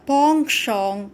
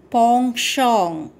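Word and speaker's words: penchant: question nishant had a pong shong for fine poetry nishant had a pong shong for fine poetry look at the word p-e-n-c-h-a-n-t it is pronounced pong shong pong shong what does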